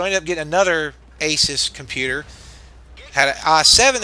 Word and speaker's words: ASUS: And it was Asus, I can never pronounce it.